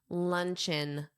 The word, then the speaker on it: luncheon: Notice that pronunciation. You simply add in to the word lunch. Luncheon, luncheon.